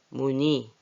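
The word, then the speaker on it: 문의: 문이 의자 회의 희소식 희미하다 이런 예를 들었는데 여기서 주의할 거는 뜻도 있지만 읽기를 이렇게 쓰지만 니라고 읽어요.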